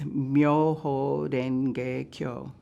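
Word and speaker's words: 妙法蓮華経: The Japanese pronunciation is Myoho Renge Kyo, and in English it is simply known as the Lotus Sutra.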